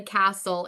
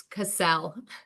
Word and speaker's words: Cassell: And I just want to say, while I am a queen, I don't live in a castle. It's Cassell.